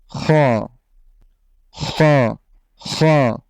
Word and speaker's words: খ: খটাও তেমন কঠিন নয়, বরং বাংলা খ থেকে একটু মোটা করে পড়লেই এটার উচ্চারণটা হয়ে যাবে হ, খ, খ, খ।